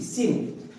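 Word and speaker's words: science: यहां पर भी आपका सी साइलेंट हो गया, सी साइलेंट हो गया। यहां सी प्रोनाउंसिएशन नहीं हो रहा है, यहां पे केवल स प्रोनाउंस हो रहा है, लेकिन स्पेलिंग में लिखना जरूरी है।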